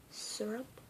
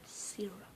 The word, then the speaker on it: syrup: So that is generally either pronounced syrup or syrup. Like sir as in sir or ma'am. And syrup as in to sear tuna or something.